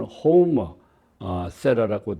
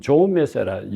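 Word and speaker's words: Jaume Serra: 스페인어로 하면은 호모 세라라고 되어 있는데 호모 세라. 근데 이 하우머세라, 호모세라 혹은 조메세라, 영어 발음식으로 하면 조메세라 이렇게 여러 가지로 불리고 있다는 것을 참고로 말씀을 드립니다.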